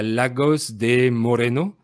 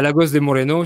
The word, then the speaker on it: Lagos de Moreno: J'habite à Lagos de Moreno. Je prononce D'accord? avec l'accent espagnol, évidemment. Donc, Oui, j'habite à Lagos de Moreno chez ma belle famille.